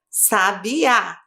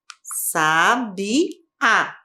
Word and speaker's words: sabiá: Sabiá. Sabiá. Sílaba tônica, uá.